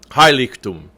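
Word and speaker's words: Heiligtum: highly tomb highly tuned so the accent is on that first syllable hi lick tomb Dinitz alba binden wieder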